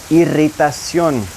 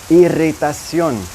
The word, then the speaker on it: irritación: Irritation will become irritación, irritación. Both good words to practice your double R pronunciation with.